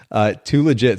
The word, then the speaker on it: THULEGIT: And you have maybe the coolest Instagram handle ever, Too Legit. So it's spelled THULEGIT for those of you listening in.